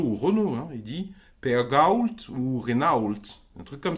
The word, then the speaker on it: Renault: Peugeot ou Renault il dit pas Peugeot ou Renault il dit un truc comme ça et bien